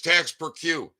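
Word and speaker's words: taxe perçue: service service desk posties tax procure and tax is spelled t-a-x-e and it's tax per queue p-e-r-c-u-e or TP you uh you can abbreviate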